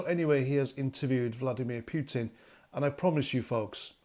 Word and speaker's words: Putin: he has just interviewed Vladimir Putin or Putin as the Americans say now before I get